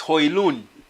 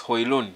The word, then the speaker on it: Højlund: But it's Højlund. Rasmus Højlund. That's the right pronunciation in Denmark.